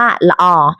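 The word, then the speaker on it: ល្អ: กัน เลย นะ คะ เรา ออก เสียง ว่า ละออ ละออ ซึ่ง คำ ว่า ละออ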